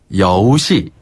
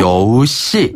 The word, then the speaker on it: 여우씨: 시 아니 아니 여시네 여기서 여우는 잘하셨는데 시가 아니라 C네 아 C 씨 씨앗 할 때 씨 그렇죠 씨앗 할 때 씨 아 조금 더 강하게 된소리 발음하죠 된소리 발음으로 여우씨 맞아요 여우씨 여우씨 이게 이제